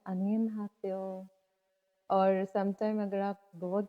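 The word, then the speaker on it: 안녕하세요: तो हेलो की प्रोनाउंसिएशन है अनियन हासेओ।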